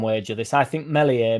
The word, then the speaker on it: Meslier: I think Melier melier silent s will have a better career over his entire career than Joseph does.